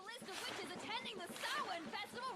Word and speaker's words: Samhain: For whatever reason, I thought Samhain is pronounced Samhain. I'm pretty sure they also pronounce it in show as Samhain. Check out the list of witches attending the Samhain Festival right here!